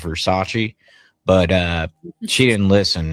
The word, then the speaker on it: Versace: that she got a Versace dress. We tried to explain to her that it was actually pronounced Versace, but uh she didn't listen.